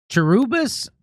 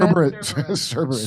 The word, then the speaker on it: Cerberus: So this guy says like Terubis in Greek mythology. Is that how you pronounce it? Cberus. Cberus. I don't I'm not I'm not well read. How do you say it? I like that better. Jerubus. Cerberus. Cberus.